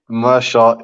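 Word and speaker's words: Meerschaert: I'm going for Gerald Mearshart, if that's how you say the name properly. And Yep. yeah, now I've heard his pronunciation of the week. Actually, that's pretty much how you say it.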